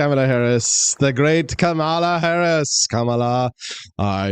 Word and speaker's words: Kamala: camea Harris camea Harris and I know her camela was first Biden and camela camela Harris camela